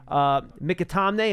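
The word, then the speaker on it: McAtamney: If you guys think, out of an abundance of caution, they could have elevated Mikatamne, and that is, by the way, how you pronounce the last name.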